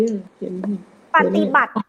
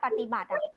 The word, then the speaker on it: ปฏิบัติ: อะไร บ้าง ตัว นี้ ปฏิบัติ นะ ต่อ โต เต่า คือ อะไร คะ ต่อ ปาก ๆ น้ำ ปฏิบัติ สระ อิ ไม่ ออก เสียง อนุมัติ สระ อิ ไม่